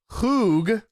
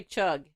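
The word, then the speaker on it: חוג: This is one of those where you got to say it like with a little bit Hoog. of a guttural sound of hoog. So that doesn't say chug. No, it looks like chug, but it's pronounced hoog.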